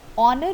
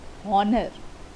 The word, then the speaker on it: honor: Before a word beginning with H but not sounded like H. For example, an honor. Honor word begins with H, but it will not be called honor.